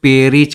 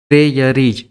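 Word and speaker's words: Prairies: देखो, रोटी का भंडार बोलते हैं हम लोग पेरीज के लिए, ठीक है। अब इसका स्पेलिंग यहाँ सही कर लेना, प्रेयरीज।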